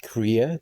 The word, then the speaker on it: Krier: My last name is Korea.